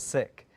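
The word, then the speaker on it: Sikh: play AEK or um the correct pronunciation is sick uh so I have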